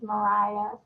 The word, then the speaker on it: Mariah: And just so you know, the correct pronunciation, my name is Mariah. So Mariah. Mariah. See, okay. Maria told me it was Myra.